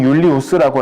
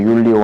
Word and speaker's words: 율리오: 원래 이 사람 율리우스라고 라틴어식이라고 써야 되는데 이제 이쯤 되면 이제 이탈리아식으로 발음입니다. 율리오 하면은.